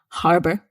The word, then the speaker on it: harbor: is harbor again here there's no um arguments about this you must pronounce the h harbor and harbour means port